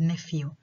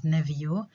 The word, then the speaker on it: nephew: And by the way, this is another pronunciation or British pronunciation for the word nevio, but it's not very popular. So the most common pronunciation of this word is nephew. But yeah, it's good to mention that it can be pronounced as nevio, and this is an old pronunciation.